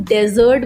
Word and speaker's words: desert: लेकिन एक वर्ड होता है desert DESERT, उसे हम लोग प्रोनाउंसिएशन गलत करते हैं बट उसे हम डेजर्ट बोलते हैं और उसका मतलब होता है मरुभूमि या आप कह सकते हैं रेगिस्तान, ठीक है।